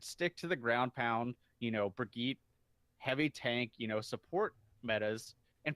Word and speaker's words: Brigitte: It is Brigitte. Not Brigitte. Brigitte. Okay. All right, you'll get to roll the R, nothing but Brigitte.